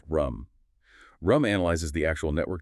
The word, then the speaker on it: RUM: First, passive monitoring, which is often called real user monitoring, or RUM, pronounced RUM.